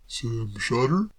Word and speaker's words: Shotter: you prefer it that way certainly i've always pronounced it sam shotter myself shutter that's right mr braddock item narrowly look here